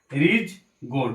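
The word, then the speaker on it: ridge gourd: রিজ গোট, এখানে ডি এর উচ্চারণটা হয় না, রিজ গোট মানে কি ঝিঙে।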